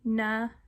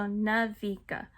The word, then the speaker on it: Niveka: Now, I know it does not sound the way it's spelled. A lot of people trip over the I and E, but it's literally Navika. So Navika.